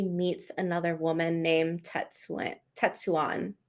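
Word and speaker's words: Tetsuan: another woman named tetsuya tatsuwan how do you say it i always say swan okay tatsu on it that's what it is so this woman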